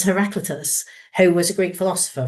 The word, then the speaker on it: Heraclitus: also had to look up to how to pronounce. It's Heraclitus, who was a Greek philosopher from around 500 BC.